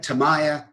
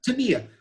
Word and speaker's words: Tamiya: for 12 15 years always used uh tamiya tamaya tamiya how do you say it john tamia tamiya and from what i understand from my japanese press tamiya is correct oh boy okay i'm